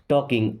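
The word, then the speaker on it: talking: टॉकिंग, L silent है।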